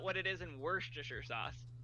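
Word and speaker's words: Worcester: I pronounce it War Chester Shire the first syllable is war that's not what it is in Worster sauce it's w it's not war it's w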